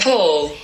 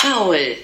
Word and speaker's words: Paul: And in British English, you pronounce it Paul. And in German, the name is pronounced Paul. Paul. That's what it sounds like to me anyway. So Paul and Paul. Side by side again. Paul. Paul. So super different pronunciation in my opinion.